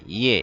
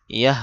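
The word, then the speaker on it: یہ: ইয়ে। এটা হলো ইয়াহ হাজবর ইয়াহ। ইয়াহ বলা যাবে না? ইয়ে বলতে হবে। ইয়াহ অনেকে বলে থাকে ইয়াহ শব্দটা ভুল।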